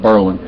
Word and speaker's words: Berlin: finding service damn Bor conquered Berlin Berlin they pronounce it Berlin that's a that's we haven't even been there